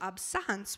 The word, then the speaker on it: absence: looks like absence but it is pronounced absence which is the French word for absence so this one is